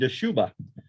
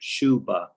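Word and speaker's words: Dschubba: a silent d arabic it's arabic but you don't uh pronounce the d just like shubha yet they use the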